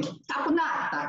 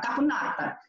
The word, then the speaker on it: caponata: And I should say it like him, caponata, caponata.